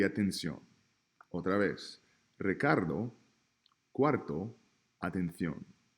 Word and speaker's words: atención: Por ejemplo, we have Ricardo, cuarto y atención.